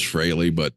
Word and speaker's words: Frehley: freely because it pisses off the Ace diehards. It is Fraley, and I get it in every comment. It's Fraley. It's pronounced Fraley.